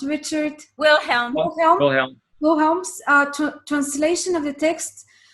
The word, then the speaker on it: Wilhelm: All right, so this is not a book for cursory reading, no more than is Richard, how is it pronounced? Richard? Wilhelm.